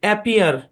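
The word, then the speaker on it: appear: অ্যাপিয়ার। এ বরাবর ভাগ হবে, অ্যাপ পিয়ার। একই কনসোনেন্ট দুইবার থাকলে একটা কনসোনেন্ট ধরে পড়তে হয়। সুতরাং এই শব্দের উচ্চারণ অ্যাপিয়ার।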